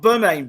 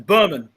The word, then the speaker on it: Bermane: their house lemon now Berman have I said it right this time not bur main Berman great great welcome back